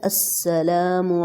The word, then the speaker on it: السلام: ہیں۔ جو صحیح عربک ورڈ ہے وہ ہے السلام علیکم ورحمۃ اللہ۔ یہاں پہ ہم نے سٹاپ